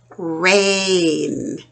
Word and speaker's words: rain: Rain. AI goes together, but the I is silent. So the A only says A, rain.